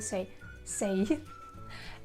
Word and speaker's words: says: For he, she, it, in the present simple, you should pronounce says.